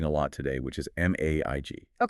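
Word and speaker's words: MAIG: Do not say match. Definitely not match. That sounds like a receptionist at a dentist's office. Right. The guide says it is pronounced mage. It rhymes with page or cage.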